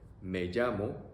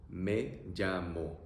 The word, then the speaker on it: me llamo: And to respond to that question, you can say me llamo, which means my name is, or I call myself. Pronunciation, E-A-O. Me llamo. Me llamo.